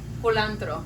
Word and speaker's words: culantro: the spice, the coriander spice, how do you pronounce it? How do you say it? Culantro.